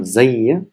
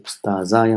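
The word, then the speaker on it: أستاذاي: So how do you say al ustazaya? So it's not zayya. So just to catch you here, it will be ustazaya.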